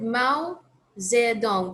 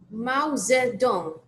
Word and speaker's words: Mao Zedong: you think how did you say I said Mao Zedong but I don't think it's it how do you say that yeah it's not there it's not there it's is it J no it's O so Mao Zedong like that so okay all right sounds complicated